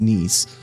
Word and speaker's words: Nice: Yes, I know it looks like nice, but Nice is actually a place in France. And yes, it is pronounced knees.